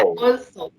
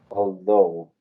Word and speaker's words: although: Yo creí que era also. Although, sí. Although. Generalmente la TH se pronuncia como una Z. En este caso yo diría que se pronuncia más como una D muy suave, although.